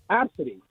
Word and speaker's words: ABCD: Their name is uh is spelled ABC D and the name is Absid.